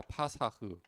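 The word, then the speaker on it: פָּסַח: 파사흐. 그리고 히브리어는 이렇게 써요. 뭐 영어 비슷하게 보이기도 해요. NOE 뭐 이렇게이를 뒤집어 놓은 것처럼 보이기 하는데 이게 파사흐라고 읽어요.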